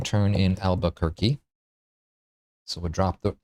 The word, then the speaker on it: Albuquerque: Albuquerque, 4 syllables.